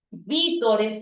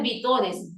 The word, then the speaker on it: vítores: celebró día música folklóricos vítores no es vitores vítores y público todo correctamente